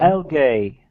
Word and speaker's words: algae: Algae. Did I pronounce Algae.